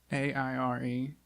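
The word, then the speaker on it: Aire: it's water no oh it's a ir e array AI re there's no like - yeah nothing air air okay river air saw something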